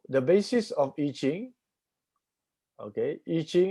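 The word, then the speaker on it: I Ching: basis of itching okay itching is the direct chinese pronunciation as the word there eating in mandarin yeah as is written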